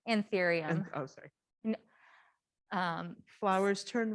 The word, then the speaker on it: Anthurium: Why do some, and I'm probably not going to pronounce this correctly, Arthurium? Anthurium.